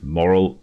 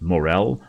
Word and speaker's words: morel: And for some reason, you know, I've been pronouncing this moral my entire life. Turns out it's pronounced morel or morels rather than moral.